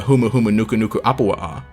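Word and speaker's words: humuhumunukunukuāpuaʻa: based off of the reef triggerfish or the humuhumunukunuku apoa'a that's right i know how to say it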